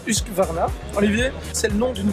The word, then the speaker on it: Husqvarna: Alors, ça se prononce Husqvarna.